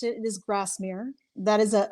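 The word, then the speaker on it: Grasmere: Well, you were right in the way you pronounced it. It is Grassmre.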